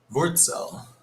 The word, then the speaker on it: Wurzel: Oh, and I mispronounced a German word from our German expert in the chat, Wurzel. Wurzel.